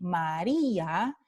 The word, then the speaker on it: María: Se escribe con una I regular, mientras que María lleva un acento ortográfico en la I y esto es para indicar que I y A están en sílabas diferentes, están en hiato.